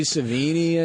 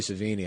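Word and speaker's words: Sevigny: like a small town like Chloe Ceini I think or which I'd say her name wrong. Adam corrected me on that and I was pissed off cuz obviously it was Chloe Sini.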